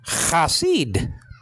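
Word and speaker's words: חָסִיד: The lexical form is spelled out chet with the kamet, so there's cha. You understand? And then you have one of the S's in Hebrew. Okay, Samic, and that's typifying an I believe. Okay. But anyway, and then underneath it you got the I class, or Cherek I class, so that's Si.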